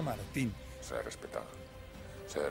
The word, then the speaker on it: Martín: Y que su apellido no era Martín, su apellido era Martín.